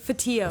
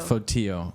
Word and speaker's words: Fotiu: Can you pronounce it? Fotiu. Fotiu.